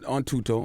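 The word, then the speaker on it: Thuto: Tuto? Yeah. I pronounced it right? Yeah, Tuto. You actually did.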